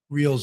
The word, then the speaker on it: Reelz: That's spelled R E L Z as in zebra. Reals. Apparently, last night they had some tech technical difficulties.